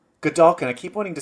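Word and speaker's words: Godolkin: How do you pronounce the school? Gdulkin. Gdulkin.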